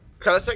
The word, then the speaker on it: Kralizak: Kralizak, is that how you say that? Kralizak? Yeah, Kralizak, yeah, he goes down in that Kodiak.